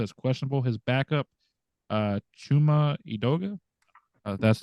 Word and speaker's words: Chuma Edoga: Friday He's listed as questionable his backup uh chuma edoga that's how you pronounce the name he's also limited uh so